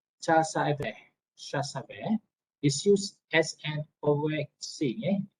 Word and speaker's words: CASVE: The CASVE cycle, pronounced CASVE, is used as an overarching heuristic to structure to career process.